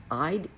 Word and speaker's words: Eid: I think it's pronounced Eid, E-I-D.